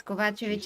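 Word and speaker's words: Kovačević: Yes, Kovacevic is the right reading. Vladimir Kovacevic. It's Serbian, and we pronounce the names Is it Serbian? and basically based on our language, and their language is similar to our language.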